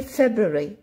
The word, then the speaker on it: February: Alors, pour savoir comment écrire ce mot-là, vous allez le mémoriser February, mais vous allez le prononcer February.